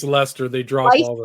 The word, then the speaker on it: Leicester: How do you pronounce it? I'm I think terrible. it's Leicester. They drop Leic all the or letters and say Leicester?